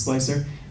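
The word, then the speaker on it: Slic3r: a program called slicer spelled like dead mouse but it's slicer and then made a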